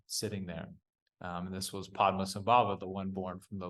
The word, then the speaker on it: Padmasambhava: Because reading the article, like trying to memorize that sequence of syllables and saying it correctly was challenging. But Oh yeah, his name's Padmasambhava.